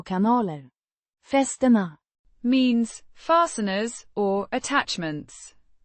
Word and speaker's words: kanaler: Pronounced kanaler with a long sound in, ka a short in, na and a distinct ler sound at the end.